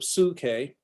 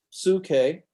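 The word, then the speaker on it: ψυχή: same thing with the suke suke uh is Seoul the oopsilon there as well okay is only ooh it's never y and again Dr Black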